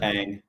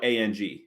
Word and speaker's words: Ng: It's just Ang. Is it? Sure. There's a video of her pronouncing her own name on YouTube. Oh, that's good. And I wanted to know, and it's just like Ang.